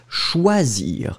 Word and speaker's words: choisir: Remember, O, E together, it's wah, wah, wah. So, first thing, it will be schwa. After that, the S, it's really thin because you've got only one S between two vowels. Zzz, choisir.